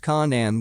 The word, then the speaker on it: Canaan: which eventually migrated to Canaan pronounced Conan with the k sound of the serpents a